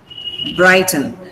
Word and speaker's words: brighten: Brighten. Now the stress is on bright. So don't stress 10.